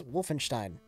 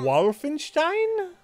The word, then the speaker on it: Wolfenstein: for PR also Rich you mispronounce Wolfenstein the O is short like okarina I don't even remember